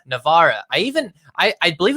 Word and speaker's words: Navarra: keeping it moving this king of no not navarro navarra navarra i even i i believe it or not